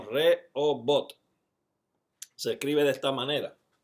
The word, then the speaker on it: Rehobot: No robot, sino Rehobot.